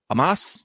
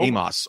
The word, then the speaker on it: Omos: Omos. Like, there's no A in his name, first of all. 2 O's, so it should be Omos. Where are you getting Amos or Omos?